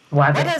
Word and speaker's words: Wathe: I know the other people might struggle to pronounce it, which is okay. So the name is W. Wther.